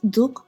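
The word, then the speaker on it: դուք: Armenian and that is duk or to. When we add the K on the end, Duk in Eastern Armenian or Tuk in Western Armenian, it becomes the formal use of the word.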